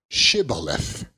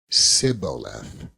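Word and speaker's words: Shibboleth: they said unto him say now shth and he said Sith for he could not frame to pronounce it right then they took him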